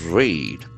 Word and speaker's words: raid: With raid, R-A-I-D, that is another beautiful noun. Raid. We can feel that A sound, raid.